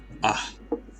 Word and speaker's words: Ahmed: Oh, the only thing I learned from Ahmed is the emphasis on the H in his name. Yeah. Ahmed.